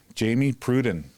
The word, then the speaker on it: Jamie Pruden: for improvisation and uh so here we go Jamie Pruden did I pronounce that right you absolutely did love it